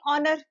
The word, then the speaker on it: honour: अब जैसे ऑनर, HONOUR, ऑनर में भी एच है, आर में भी जैसे HONOUR, यहाँ पे भी एच साइलेंट है, और घंटे के लिए